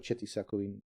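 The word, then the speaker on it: Oceti Sakowin: The Ocheti Sakuin, not the Shak.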